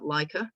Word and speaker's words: Laco: So the way that it's pronounced, it's Laco.